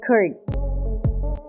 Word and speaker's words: could: सी ओ यू एल डी कर्ड। इसमें एल को pronounce नहीं किया जाएगा। द एल इज a silent letter in this word. So this is नॉट कर्ड बट कर्ड।